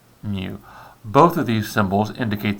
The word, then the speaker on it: mu: sample and the greek letter mu so that's pronounced mu both of these symbols indicate the mean but